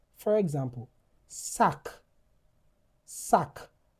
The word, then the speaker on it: sac: sac The c is pronounced.